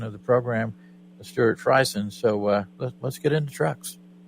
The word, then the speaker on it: Friesen: Is how it's pronounced? Friesen.